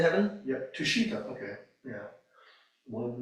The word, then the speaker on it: Tushita: You know, part of which is dying and going to, I can't pronounce the name of heaven. Tushita heaven? Yep, Tushita, okay, yeah.